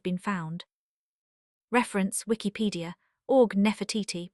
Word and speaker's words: Nefertiti: Reference Wikipedia or Nefertiti pronounced at the time something like asterisk Nefrarati.